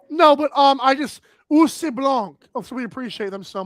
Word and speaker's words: blanc: It's spelled like O U R S B L A N C. It's pronounced Blanc.